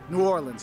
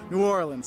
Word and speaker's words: New Orleans: It's like new like new and then or like what you row a boat with and then lens like a camera lens. That's how you say it. New Orleans. And you put the emphasis on that or.